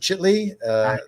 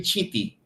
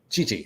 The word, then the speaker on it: Chiti: And the catcher, how do you pronounce his name? Is it Chitley? Harry Chiti. Chiti, okay.